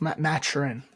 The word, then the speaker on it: Mathurin: It's Mathurin. It's spelled Mathurin, but it's Mathurin.